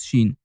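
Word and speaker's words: ش: Now the 13th letter, which is Sheen. Sheen is looking like Sin, but with three milkshakes on top of it. And guess it, yes, Sheen is pronounced like the sh of shake.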